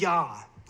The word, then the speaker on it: Yah: So here we have an iota, alpha, and omega. That pronounces Yah, or Yahu maybe. Yah.